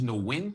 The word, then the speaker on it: Nguyen: What I did tell him was that these three individuals, Carson McCoy, uh another guy named Alex Ocher and George Nguyen. How do you pronounce it, Chris?